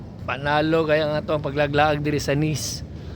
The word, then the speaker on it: Nice: kay guys no panalo kaya ang paglaglaag sa nis pag-pronounce pero kung imong basahon nice ni sa to